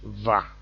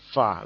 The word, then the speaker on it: fa: So it's not va, it's not supposed to be pronounced that way. The actual pronunciation, the right way to pronounce it is fa, not va.